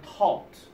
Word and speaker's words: taught: 자, 근데 우리가 발음할 때 이렇게 중간에 GH가 들어가는 거 발음한다고 그랬어? 안 한다고 그랬어? 안 한다고 그랬지. 그러면 트, 어, 트. 그러면 taught. 이렇게 되는 거예요. 그래서 he taught.